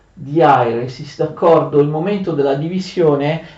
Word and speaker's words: diairesis: traslitterazione in caratteri latini, quando c'è un dittongo, esattamente come avviene in greco, nei caratteri greci, si usa inserire l'accento sul secondo elemento del dittongo, in questo caso sulla I, ma leggerlo sul primo. Quindi ai, io metto l'accento sulla I, però si legge sulla A.